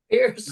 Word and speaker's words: Pearce: Pierce.